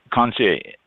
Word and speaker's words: Concierge: And one other thing too, just Concierge. It's CONCIERGE. So it's that fancy French where they don't pronounce some of the letters.